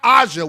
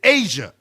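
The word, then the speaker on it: A'ja: And it's not Aza Wilson either. It's Asia, as I've been saying the entire time.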